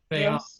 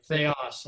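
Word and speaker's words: θεός: Theos, right. Theos. Accent in the second syllable.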